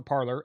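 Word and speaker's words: Parler: and it was cre parlor was created I'm pronouncing it like it's spelled p a r l e r um it was created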